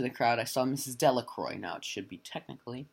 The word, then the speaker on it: Delacroix: It should technically be Delacroix, but because in this town, for some reason, they pronounce it Delacroix, she said in her somewhat demonically joking voice, "Clean forgot what day it was."